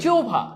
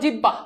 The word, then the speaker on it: জিহ্বা: ও ভ যেমন দেখো যোভা যোভা দিস ইজ নট জিহ্বা তোমরা বলো জিহ্বা উচ্চারণটা হবে যৌভা ওকে সো দেখো এই